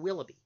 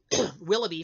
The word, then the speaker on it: Willoughby: I digress so ray and willoughby as a partnership are going to set out